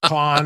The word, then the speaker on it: Cannes: the Cannes Film Festival I call it can because I'm from the South Khan is the proper way to say it but we love France